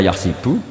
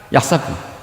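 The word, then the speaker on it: يحسب: Tapi guru-guru kita kalau ngajar fikih itu bacanya yahsibu. Tapi kalau baca Quran yahsabu. Ya kan Quran kita kan ayahsabu alla yaqdiro alaihi ahad. Bukan dibaca ayah sibuk.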